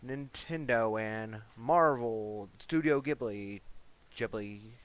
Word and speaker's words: Ghibli: and Marvel studio ghibli Ghibli however you want to present it it's Ghibli that's how I pronounce it but as for Nintendo